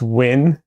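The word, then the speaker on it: Wynn: It's pronounced win in this case.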